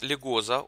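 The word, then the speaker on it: Легезо: гостях достаточно интересные люди это lycosa ударение на последнюю букву старший вирусный аналитик чернецкий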